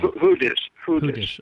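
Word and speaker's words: Hudes: Now, is it Hudis or Huds, or how do you pronounce her last name? Hudis. Okay. Right. In any case, she's a legitimate whistleblower.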